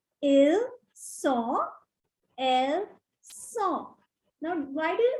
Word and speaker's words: ils sont: The next one, ils sont. Ils sont. Again, it's not ils. The last alphabet S is silent here. So it becomes ils sont.